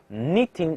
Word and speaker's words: knitting: 好，jumping over the fence，下一个。Knitting a scarf，注意这个 k 不